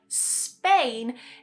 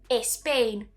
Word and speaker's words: Spain: And to pronounce words that start with just a s sound in English like Spain is quite difficult. Many speakers would add that e to the beginning and they would say espain.